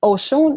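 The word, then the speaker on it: Ọṣun: No, Oshun is Oshun, who we're talking about. Osun, O-S-U-N, without the dot underneath, is a different divinity. That's part of the hunter divinities or the warrior divinities.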